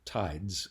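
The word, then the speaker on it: PTIDES: systems in 2007 and we called it tides uh with a silent p so so it has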